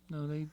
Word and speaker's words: Ngo: No, is that NGO? No, yeah. So the N silent.